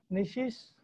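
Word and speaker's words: gneiss: अब अगला पत्थर है स्ट्रेटिफाइड ग्रेनाइट, या जिसको निशीश भी बोलते हैं। ध्यान दीजिएगा, इसकी इंग्लिश में स्पेलिंग जी से शुरू होती है, वो साइलेंट है, तो इसको हम निशीश स्टोन बोलेंगे।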